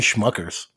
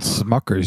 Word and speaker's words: Smuckers: surprisingly not very good people keep calling me schuckers and it's called Smuckers you dope I was going to